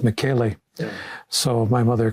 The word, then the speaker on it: Michele: And the Italian pronunciation is Michele.